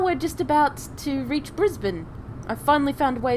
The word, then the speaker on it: Brisbane: sparse Pioneer town of Brisbane for those of you wondering how it's said uh it is said brisban not Brisbane we were settled into